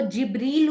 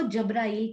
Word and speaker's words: जिब्रील: तो वो जिब्रील उसका एग्जैक्ट प्रोनाउंसिएशन जो कि उर्दू या फारसी या अरबी में बोला जाता है, तो वाणी में उनको जब्राइल करके कहा गया।